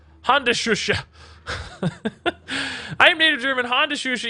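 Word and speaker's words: Handschuhe: You just pronounced it wrong. Hand shusha. Honda shusha.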